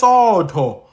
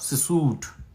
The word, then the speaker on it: Sesotho: It says Sotho, but it's pronounced Sesotho. Do you get what I'm saying? Sotho. When I when I see I'm seeing Sotho, but they're saying no, it's Sesotho.